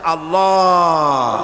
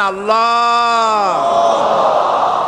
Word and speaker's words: আল্লাহ: আল্লাহ পাকের উচ্চারণটা হচ্ছে আল্লাহ পাকের নামের উচ্চারণ হচ্ছে আল্লাহ মুখটা একটু গোল হয়ে যাবে বলেন আল্লাহ আল্লাহ সুবহানাল্লাহ পৃথিবীতে বিভিন্ন